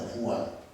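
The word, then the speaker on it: Juan: 저 스페인어로 이 요한이 후안입니다. 후안.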